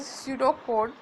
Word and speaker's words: pseudocode: Pseudocode, as I'm writing here, its pronunciation is pseudocode.